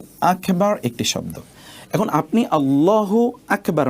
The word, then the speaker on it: আল্লাহু আকবার: যেমন ধরুন আল্লাহু আকবার। ঠিক আছে? এই যে এখানে দেখুন মূল উচ্চারণটা হবে আল্লাহু আকবার। আল্লাহু একটি শব্দ। আকবার একটি শব্দ। এখন আপনি আল্লাহু আকবার না বলে যদি আপনি বলেন আল্লাহু আকবার।